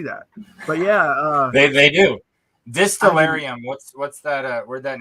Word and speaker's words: Distillarium: there's a lot of things that end in area. Distillarium. Yeah. Me putting your scientific twist on it makes it so I pronounce it correctly.